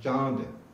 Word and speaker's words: चंद: जैसे चांद, चांद कहिए आप, चांद, चांद।